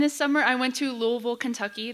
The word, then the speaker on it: Louisville: summer I went to Louisville Kentucky they do say Louisville with like two syllables and if you say more syllables than that or if you say Louisville then they'll yell at you so those are the